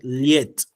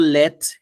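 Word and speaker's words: лет: Liet. Now it's not let, but liet.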